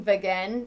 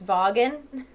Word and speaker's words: Vaughan: I think I started saying Vagan again, but it's Vaughan.